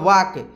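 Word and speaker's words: walk: के इसका हिंदी हो इसका जो है ना उच्चारण होता है हिंदी में वाक्य एल यहां पर साइलेंट हो जाता है और इसकी हिंदी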